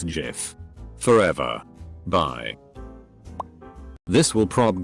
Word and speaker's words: GIF: words long he went up and said it's pronounced jif najif double quote jod himself could come down and tell me that i wouldn't believe it it's jiff forever bye this will prob get buried but